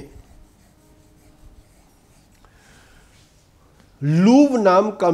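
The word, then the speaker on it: Louvre: लूव्र की वर्तनी L-O-U-V-R-E है। आपको किताबों में इसे 'लूव्र' लिखा हुआ मिलेगा। लेकिन यह एक फ्रांसीसी शब्द है, और इस फ्रांसीसी शब्द का सही उच्चारण लूवर है।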